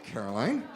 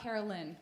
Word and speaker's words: Caroline: Hi, Caroline. I had to officially tell you how to say your first name earlier, didn't I? Yes, not Carolyn. Right. It's not Carolyn, it's Caroline. That's the way it's spelled.